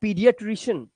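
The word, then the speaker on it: pediatrician: edges इसी तरह से इसे पढ़ेंगे एस्थेटिक्स एस्थेटिक्स यह है पीडिएट्रिशियन ए इ है ना ए ई ए ई की आवाज होती है वो ई की होती है याद रखना ये हो गया पीडिएट्रिशियन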